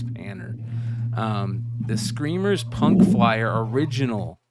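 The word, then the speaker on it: Panter: And I always say Painter, but it's Panner. The Screamers Punk Flyer original, the original. So this is, if you guys know who Gary Panner is, he's the guy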